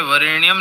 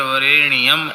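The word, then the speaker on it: वरेण्यम्: का उच्चारण हुआ और जप के समय वरेणियम न बोलकर वरेणियम ऐसा बोले इतनी सावधानी रखें क्योंकि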